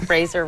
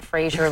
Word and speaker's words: Fraser: He has horns actually, so we had Anyway, well, Brendan Fraser rhymes with Razor, not Frasier like the TV show.